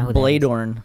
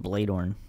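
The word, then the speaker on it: Bloedorn: I don't know who I think I it's Bladorn. They pronounce it Bladorn.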